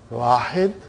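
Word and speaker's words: واحد: The way they pronounce, it will be, they won't say Wahidun. They'll say Wahid.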